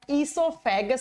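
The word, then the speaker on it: oesophagus: food pipe होता है उसको हम सोफैक बोलते हैं वो यहां पे प्रोनाउंस करते हैं तो ओ साइलेंट हो जाता है तो इसको हम सोफैक कहते हैं हिंदी में लिख लो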